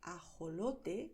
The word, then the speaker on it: ajolote: Puedes pronunciar ajolote, como acabo de hacer, pronunciando de manera suave con la garganta, igual que cuando en inglés dices hello.